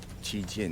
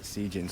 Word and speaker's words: Cijin: Taiwan and Cijin, and the only way that Cijin sign would actually say Cijin is if it was Italian, because CI is Chi, right?